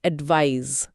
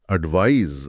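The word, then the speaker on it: advise: और इसके उच्चारण में भी फर्क है। यह जेड की ध्वनि के साथ खत्म होता है। एडवाइस। एडवाइस Z sound.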